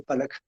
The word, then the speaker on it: Pollock: Había un autor, un pintor norteamericano, Pollock, se escribe Pollock, se escribe Pollock, se dice Pollock.